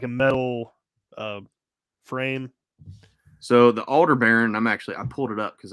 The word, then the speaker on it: Aldebaran: Man, I don't even know how to pronounce it. Aldebaran or Aldebaran? Aldebaran.